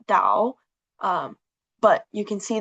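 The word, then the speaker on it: 岛: Um, it's pronounced dao.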